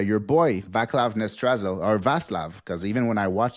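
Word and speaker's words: Václav: boy, Vaclav Nestrazel, or Vaslav, because even when I watch, they say Vaslav, so I was like, I called him Vaclav all year long, but now I learned that it's Vaslav.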